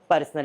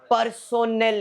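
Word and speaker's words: personnel: पर्सोनल expenses. It इज नॉट पर्सनल। Sir spelling mistake रहेगा ना सर। पर्सनल ही हो सकता है सर। इट इज पर्सोनल expenses. Not पर्सनल expenses. पर्सोनल और पर्सनल में दो फर्क है।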